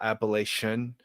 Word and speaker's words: Appalachia: pronounced the same way, like a TION, like caution, reflection. So they think it's Appalachian. They just instinctively like, oh, it's English. It's this suffix. That's how it's pronounced.